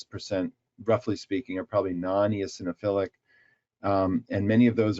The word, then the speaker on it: non-eosinophilic: going to mispronounce this nonos syphilic asthma do you know the rough percentage of of asmatics that are non EOS syphilic sorry dis pronounce that that's okay non eosinophilic right well um I don't